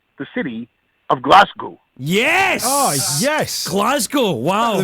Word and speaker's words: Glasgow: well you've nailed that Glasgow is exactly how you see it my friend and actually Paul you